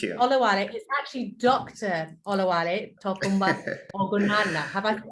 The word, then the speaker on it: Olawale Ogunlana: Olawale Ogunlana. Have I pronounced that correct?